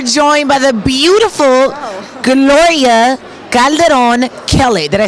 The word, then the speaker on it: Calderón Kellet: So we are joined by the beautiful Gloria Calderón Kellet. Did I say it right? Yeah, Calderón Kellet.